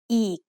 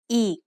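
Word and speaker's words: อีก: So this word is pronounced eek. The word eek means again. Did you notice the tone when I say eek? It's a low tone.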